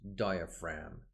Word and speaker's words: diaphragm: to the diaphragm diaphragm remember this G here is not pronounced diaphragm here you have another